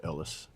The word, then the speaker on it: Elias: It's spelled Elias, but it said Ellis.